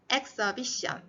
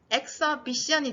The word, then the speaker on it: exhibition: exhibit으로 되고 tion이나 ity로 끝나는 명사형 단어에서는 바로 앞에 있는 모음에 강세를 줘요.